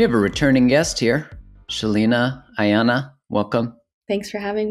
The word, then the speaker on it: Sheleana: grov podcast we have a returning guest here Shelina Ayana welcome thanks for having me you know